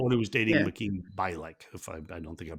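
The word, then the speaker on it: Mayim Bialik: Makeen Bialik. If I don't think I'm pronouncing her name right.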